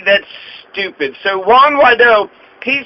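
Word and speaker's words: Guaidó: u a i don't y the g is pronounced y g that's stupid so juan wado he says that the 2018 elections were illegally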